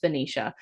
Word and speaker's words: Venetia: I think it's pronounced Benicia.